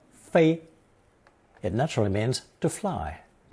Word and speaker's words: 飞: Pronounced first tone 飞, it naturally means to fly.